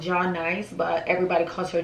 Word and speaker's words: Jai Nice: So her name is pronounced Ja Nice, but everybody calls her J Nice.